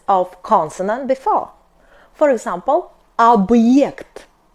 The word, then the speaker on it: объект: For example, объект, объект. Be attentive, not объект, but объект. B is hard, like in boring.